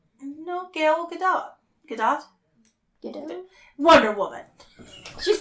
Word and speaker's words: Gal Gadot: She did this, I'm sure you're saying her name wrong. No, Gal Gadot.